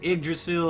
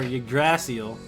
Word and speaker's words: Yggdrasil: You can pronounce it Yggdrasil or Yggdrasil.